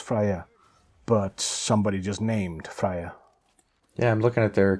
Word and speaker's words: Freya: the way it should there's another way to pronounce that name if people like to do all sorts of things with the J the thing is it's supposed to be be a why I've never heard it